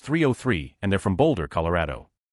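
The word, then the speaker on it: 3OH!3: I somehow convinced myself that the band 30H3 was pronounced Ohio and that they banned formed in Ohio. Imagine my shock when I found out it's pronounced 303 and they're from Boulder,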